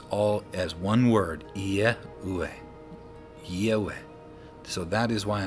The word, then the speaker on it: Yahweh: all as one word, Yehweh, Yehweh. So that is why I say Yehweh. The Y-E, as in I-E, as in yet, if I was to write Y-E-T, it would be pronounced yet.